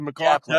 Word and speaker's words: McLaughlin: Did I pronounce it right, or is it McLaughlin? Yeah, perfect. Okay, McLaughlin with an F.